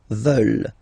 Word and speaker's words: veulent: And the last one, here, EU, and then E-N-T, classic ending, but then you don't pronounce it, so you get veulent, veulent.